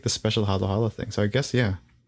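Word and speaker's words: haluhalo: the proper spelling of Halo Halo is h a l u h a l o one word halo Halo which is kind of how you pronounce it as well Halo Halo it's not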